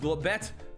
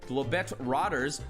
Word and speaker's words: Globetrotters: Not pronounced Globet. Globetrotters, but still B-E-T right there.